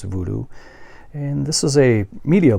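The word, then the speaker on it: Woodoo: and there is the German title which is pronounced voodoo they pronounce their W is as a heart v in Germany so it's a voodoo and this is a media book from xt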